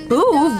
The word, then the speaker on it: Boov: Boov rhymes with groove.